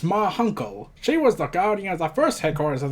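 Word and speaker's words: Ma Hunkel: It's pronounced Ma Hunkle.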